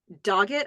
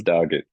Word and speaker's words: Dogget: CJ Sykes, who played Dogget, I think it's pronounced, Dogget.